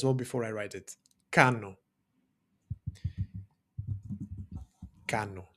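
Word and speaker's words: κάνω: And again, don't confuse this guy with a V, right? This is the Greek N sound.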